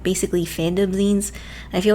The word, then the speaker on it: zine: basic definition of a Zen anyways it's pronounced as if it was the end of the word magazine in English it's usually a self-published